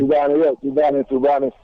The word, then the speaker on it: tubani: One other meal that it's also being talked about in the northern region is the tubani. Is that correct? Did I get the pronunciation right? Tubani. It's correct. It's tubani.